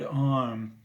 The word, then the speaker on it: Om: So the Hindu word Om is it's spelled O-M, but it's pronounced or like with three syllables, and those three syllables actually symbolize four different things.